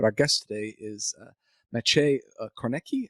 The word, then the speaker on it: Kornacki: guest today is Maciej Kornacki. Is that how you pronounce the last name? Kornacki? Yes, Maciej Kornacki. Kornacki? Okay. All right. Kornacki. All right. More Polish like.